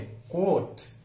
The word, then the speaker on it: quote: अगला शब्द है QUOTE, कोट बोलते हैं हम गलती से, लेकिन उसका सही उच्चारण है लॉन्ग है, कोट।